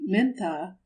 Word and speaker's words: Mintha: But, as written in Burmese, without a long accent on the tha, and pronounced like an ordinary English word with the stress in front, the name Mintha has another modest meaning